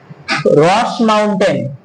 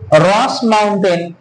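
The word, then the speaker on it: roche moutonnée: কোন কোন বইতে বাংলায় কিন্তু রসে মোতানে লেখা থাকে, রসে মোতানে লেখা থাকে, আসলে এর বানান হচ্ছে ROCHE, রস, মোতানে হচ্ছে মাউন্টেন, MOUNTONNE। এটাকেই বাংলায় উচ্চারণ আছে রসে মোতানে। তোমরা কি বলবে না রস মাউন্টেন, অথবা হতে পারে রসে মোতানে, এই একটা ভূমিরূপ আমাদের সৃষ্টি হয়।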